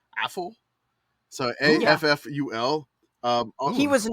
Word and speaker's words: Afful: And then it looks like his last name is spelled, it's not awful, but it's Afful.